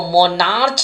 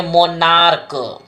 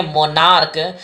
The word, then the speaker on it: monarch: यहाँ पर एग्जाम्पल देखिए, इसको मोनार्च नहीं पढ़ेंगे, मोनार्क, MONARCH है, इसको क्या पढ़ेंगे, मोनार्क, और यहाँ पर एस लगाकर इसको पूरा प्लूरल बनाएंगे।